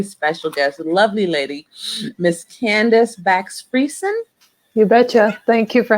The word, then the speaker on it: Candice Bakx-Fiersen: And this afternoon, my very, very special guest, lovely lady, Miss Candice Bakx-Fiersen. You betcha. Thank you for having me. Am I pronouncing your name correctly?